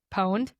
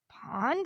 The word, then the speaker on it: pwned: And pwned is spelled PWNED. There's no O or anything. So I was like, pond? Like, cause I'm thinking like PAW, like, I don't know.